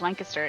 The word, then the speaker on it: Lancaster: And I'm like, no, it's Lancaster. If you go to the farm market, there are literally shirts that said Lane Kiss Dur. Damn it. This is how you pronounce it. Don't get it wrong.